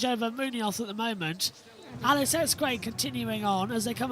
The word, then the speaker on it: Alex Escrig: It's it's In English you pronounce it Alex Escrig. But then we got the correct pronunciation guide from the Spanish media and it's Alex Escrig.